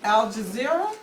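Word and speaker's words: Al Jazeera: So, um a little while ago, we had gotten a call from someone I had a clue, Al Jazer.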